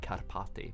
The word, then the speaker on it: Karpati: Or you simply search for my name on Tik Tok, Karpati or Karpati as the real pronunciation is.